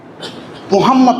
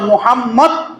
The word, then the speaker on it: মোহাম্মদ: বন্ধুর নামটা যখন নিবা মোহাম্মদ মোহাম্মদ এই শব্দটা যখন তুমি উচ্চারণ করবা তখন তোমার মুখটা বন্ধ হয়ে যাবে মিলে যাবে উপরের টোটের সাথে নিচের টোট মিলে যাবে।